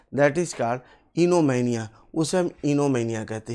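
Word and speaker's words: oenomania: दूसरा शब्द जो दिया गया है वो इनोमैनिया, ओ को साइलेंट करते हुए हम बोलते हैं इनोमैनिया।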